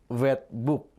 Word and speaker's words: wetboek: Misalnya ini contoh wetboek. OE di sini berbunyi U, ya.